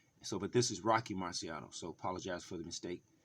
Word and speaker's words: Marciano: but this is Rocky Marciano so apologize for the mistake the miscon pronunciation but here we go the correct pronunciation Rocky Mr Rocky Marciano here we go boxing